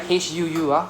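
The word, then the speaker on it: ふ: We also have the fu, not fu. Okay, I'm not quoting you. It's not fu. Right? HUU. Hu. Right? Just blow out air.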